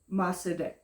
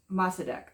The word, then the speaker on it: Mossadegh: Mossadegh. He was progressive. He was leading his country. Mossadegh, I think. He was leading his. That's at least how we pronounce it in the United States.